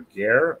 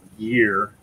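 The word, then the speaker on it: ger: identifying them, but and in English it's spelled G-E-R. Though I know the way I sound, it sounds closer to gear rather than gear, but all right, I'm about ready to going again here.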